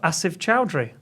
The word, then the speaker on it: Asif Choudry: Asive Chowry.